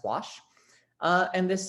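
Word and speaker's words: Łoś: the washvat test and yes that is pronounced wash uh and this says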